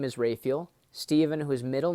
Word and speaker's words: Raphael: so my dad's name first of all is rayfield as he pronounces it some people say raphael but you know there's three archangels in scripture